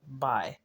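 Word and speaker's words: Bay: b a y but they he pronounced it pronounced it by instead of B by let mean by and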